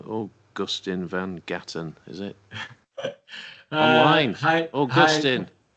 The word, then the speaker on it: Augustijn van Galen: So the Dutch pronunciation for those interested is Augustijn van Galen, but the anglicized version of that is Augustine.